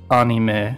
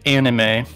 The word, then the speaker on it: anime: In Japan, is anime pronounced anime? Yeah, it's anime. Like, the a u a o's from Spanish are like a direct crossover. Yeah, but in America, we say anime for some reason. Probably because it's animation, short for animation.